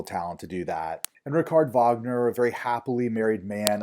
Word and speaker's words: Richard Wagner: We Americans would probably look at that and call him Richard Wagner, but he's German, so it's pronounced Richard Wagner.